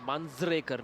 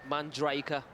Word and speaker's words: Manjrekar: Manjrekar, not Manjraika.